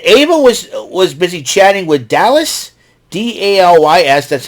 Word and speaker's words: Dalys: And Ava was busy chatting with Dallas, Dalys. That's how it's pronounced. That's how it's pronounced, Dallas.